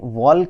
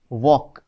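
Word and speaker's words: walk: के यह क्या है क्या यह वाल्क है नहीं तो इसे हम कैसे प्रोनाउंस करते हैं डब्लू ए एल के इज वॉक तो आप देखो यहां पर एल में कोई साउंड नहीं है वॉक तो एल यहां पर साइलेंट है तो इसकी स्पेलिंग डब्लू ए एल के ही होगी लेकिन आप इसको बोलोगे वॉक because L is silent तो साइलेंट लेटर को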